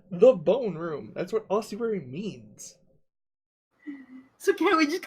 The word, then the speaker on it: ossuary: In the, I don't know how to pronounce that word, but I am not going to use the one Garm uses. The ossuary. Ossuary.